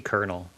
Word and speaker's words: colonel: Where'd that R come from? They they took they uh your grandparents were like, "Oh, colonel. Add it to add you can add an R wherever you want." Yeah. It seems like you shouldn't call it kernel if you want to be like the most decorated thing and there's no R in the actual word.